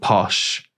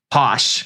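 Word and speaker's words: Posche: But Teresa Judice, there's a character called Kim D, who has a boutique called Posh, which is spelled P O S C H E. Posh.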